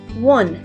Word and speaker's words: won: I saw a monkey this word can be a little bit confusing sometimes this word says one but it doesn't mean the number one it means that you won a competition or you won a prize I won a trophy